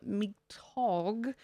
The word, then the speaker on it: Mitag: We have Hurricane Cristina in the eastern Pacific, Cyclone Nanauk in the North Indian Ocean, and subtropical storm Mitag, that's how that's pronounced, in the northwest Pacific.